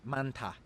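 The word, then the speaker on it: 많다: This verb means to be many, and there is the character hiet in the double consonant of the first character, with a consonant digut in the next syllable. This means that this is just pronounced manta.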